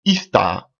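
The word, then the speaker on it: Ishtar: à voir avec Marie donc son nom ista dans les dialectes sémitique alléluia se prononce Istar que aujourd'hui qui est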